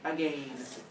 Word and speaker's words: again: swallow and eat again first off why do I pronounce that last word as again and it's not just because I'm a fancy lad although I am wetel Lane um wouldn't rhyme with again it rhymes with a so so you have